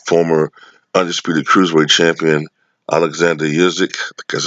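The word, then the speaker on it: Usyk: promote promotionally with former undisputed cruiserweight champion Alexander usik because it's how you pronounce it and foreign title holder Joseph Parker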